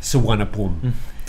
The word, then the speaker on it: Suvarnabhumi: Suvarnabhumi is how it's pronounced.